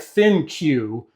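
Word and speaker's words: ThinQ: I think it's called the Think app. It's thin. It's spelled like Thin Q, but I think it's Think. But for some reason I keep calling it Thin Q.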